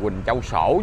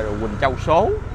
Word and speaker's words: Quỳnh Châu Sổ: Đó, đường Quỳnh Châu Sổ chứ, đường này là Quỳnh Châu Sổ. Nãy là chúng ta em đọc là Quỳnh Châu Số, giờ là Quỳnh Châu Sổ nha, chứ không phải Quỳnh Châu Số.